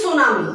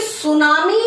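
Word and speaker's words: tsunami: ऐसे ही टी सुनामी, जबकि सुनामी है इसको हम टी नहीं लगाएंगे, यहाँ टी तो रहता ही चुप है बट यहाँ बैठा है तो ये लगाना ही है।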